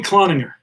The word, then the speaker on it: Cloninger: I think all right so that's how you pronounce it it's Tony Cloninger that sounds better anyone wasn't saying that